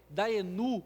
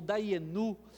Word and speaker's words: Dayenu: a nossa fé, tem uma palavra que a pronúncia dela, né, ela vai falar, Daenu ou Daienu, né, dependendo da tradução ali, de alguns cantos